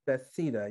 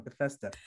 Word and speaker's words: Bethesda: you had instead of betheta you had twins bethesda sorry you had you had twins uh sorry sorry i always pronounced that wrong bethesda you're american and in